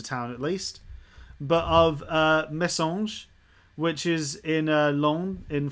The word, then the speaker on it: Messanges: think it's a town at least, but of Messanges, which is in Londres, in France. That's how it's pronounced, Sean.